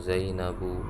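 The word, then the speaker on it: زينب: Aminatu, Zainabu, nggak boleh baca Aminatun, salah. Zainabun, salah Zainabun, tapi Zainabu. Fatimatu, bacanya diperhatikan panjang pendek.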